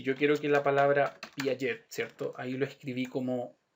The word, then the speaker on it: Piaget: Si yo quisiera que dijera Piaget y cargara la voz en la E, entonces tendría que entrar y poner un acento, modificar la pronunciación.